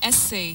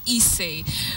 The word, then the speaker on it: essay: Willis, the word master there, coming to us from Kisumu County, teaching us those tough pronunciations, essay, not essay.